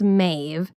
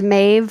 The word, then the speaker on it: Medb: introduce May of kect it's spelled Meb but pronounced mave okay sometimes you'll see it it's like angleze to reflect how it's actually pronounced is mave her name or is it a title it's her name mave okay mave I want to know more about